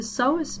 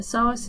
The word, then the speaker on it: psoas: So the psoas major, that's this muscle here, the psoas is spelled P-S-O-A-S, so the P is silent, and it originates along